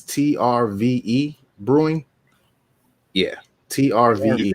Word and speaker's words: TRVE: It's TRVE Brewing. Yeah, TRVE. It's in the vowel. Trev. It's in the vowel. Trev, baby. That's Trev.